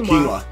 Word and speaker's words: quinoa: Oh, quinoa. Addie knows how to pronounce things.